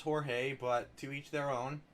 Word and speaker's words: Jorge: a friend named George spelt jo our GE that's typically pronounced Jorge but to each their